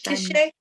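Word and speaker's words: קשת: Of course, Kishet is how you say it.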